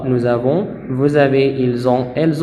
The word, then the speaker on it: nous avons: Ici, la lettre S, ça se prononce z. Nous avons.